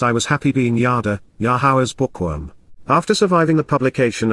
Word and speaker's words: Yahowah: It progressed with the realization that God's Shem name is pronounced Yahowah.